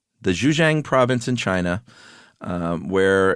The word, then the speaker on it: Zhejiang: Uh, these caves in China, uh, specifically the, uh, How would you pronounce that, Josh? The province? Yeah. Zhejiang. The Zhejiang province in China, um, where in the early